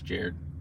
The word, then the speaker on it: Jared: It's pronounced like the Subway guy. It's Jared.